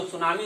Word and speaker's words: tsunami: तो सुनामी लहर, जो सुनामी होता है ये जापानी शब्द है, तो इसका इंग्लिश होती टी से लिखा जाता है, TSUNAMI, लेकिन यह टी साइलेंट होता है तो सुनामी का नाम जानते हैं, जापानी शब्द है ये सुनामी।